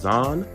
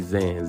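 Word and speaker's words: Zhan: Matter of fact, shout out to Jennifer, I think that's pronounced Zahn, maybe Zan, Z-H-A-N, is the author of that article that was posted, or it was updated at 2:30 p.m.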